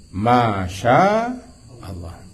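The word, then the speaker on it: ما شاء الله: Yaitu Masya Allah. Dan Masya Allah, Allah ini panjang. Panjang kan?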